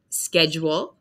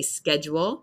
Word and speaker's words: schedule: in it tube on the left we have schedule so for me I say schedule it's a strange the spelling of the word